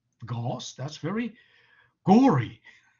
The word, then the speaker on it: Gauss: stubbornly anglicize everything uh gauss will have to be pronounced gauze and that's really ghost that's very gory right